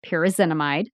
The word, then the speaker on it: pyrazinamide: You should have seen how many times I had to record this part, pyrazinamide.